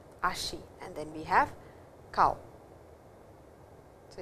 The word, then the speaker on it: kao: ha, mimi, te, ashi, kao. So, well, let us see what it is. Me, hana, kuchi, ha, mimi, te, and ashi, and then we have kao. So, it is not COW, it is KAO.